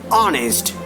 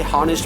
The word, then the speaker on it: honest: student and diligent student exactly we say our no we cannot say however we cannot say harnessed we cannot say holla